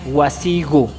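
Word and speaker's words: wasiku: Cabe aclarar que la pronunciación aquí del Q se pronuncia como gu en algunas zonas, por decirlo así.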